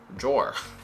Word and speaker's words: drawer: it's just kind of like it's d-r-o-r drawer it's weird but that's just how it is open the door what's